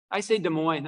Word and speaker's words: Des Moines: Yeah, do you hear the S at the end, or do you not hear the S at the end? How many say no S? How many say yes, S at the end? Okay, that's about 8-1, I would say. And I don't have a definitive answer. I think you'll find people who say it both ways. I say Des Moines. I don't say the S on the end, personally.